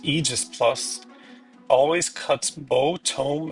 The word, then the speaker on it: Aegis: The second one, pronounced eegis plus always cuts bow, tome, and dragon stone damage in half.